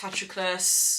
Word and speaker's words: Patroclus: So Achilles, Patroclus, that's how you say his name.